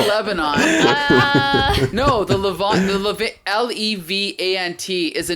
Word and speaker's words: Levant: from the what is that how do you pronounce it levant levant you know what i'm talking about lebanon no no no no no no not lebanon no the lavon l-e-v-a-n-t is a name for all of like